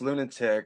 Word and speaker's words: Lewnatic: last song of the evening H Patrick AKA lunatic I hope I'm saying it right introduce yourself dude and what's your story your song Stronger than before so it's actually pronounced lunatic it's a play on words of my my